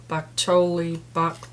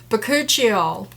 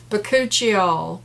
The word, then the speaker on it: Bakuchiol: Christopher, this Whish Powerfully Effective Naturals Vanilla Bean Lip Mask with baklava, bakcholi, how do you say it again? Bakuchiol. Bakuchiol, Christopher, is how you say it.